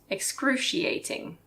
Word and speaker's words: excruciating: very painful is excruciating excruciating let's break that down X crew XI a ting excruciating number 5 instead of